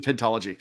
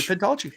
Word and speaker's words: pentology: It doesn't either, but as we're going to call it, it's going to be a pintology.